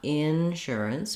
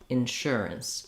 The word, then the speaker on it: insurance: Not insurance, but insurance, insurance. So thinking of that as really short. One strategy to get that correct is to start on the stressed syllable sure. Letter S says the sh sound, so I'm going to rewrite that with sh in this word. It is actually just like the word sure, which some people say,